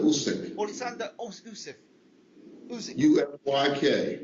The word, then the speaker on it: Usyk: Usyk, can you pronounce his name for him again, please? Pardon me? Usyk, his first name? Oleksandr Usyk.